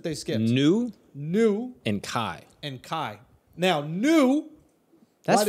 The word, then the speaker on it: chi: you spell that also it's not kai it is kai no you were also an attorney and had to know this it's not zye no it's kai we were in a